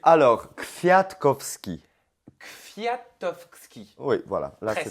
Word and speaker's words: Kwiatkowski: apprends-moi à le prononcer. Alors, Kwiatkowski.